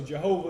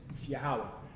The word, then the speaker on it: Yahweh: That's how it's pronounced. All right. So Jehovah is not the Most High's name at all. It's an English bastardization of the Most High's name. It's Yahweh.